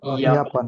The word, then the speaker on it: Japan: Sie kommt aus Japan, আর aus জাপান, Tokyo, জাপান, জাপানের উচ্চারণ হলো ইয়াপান।